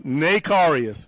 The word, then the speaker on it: Narius: fans know narus that is narius not narus not narus narus so we want to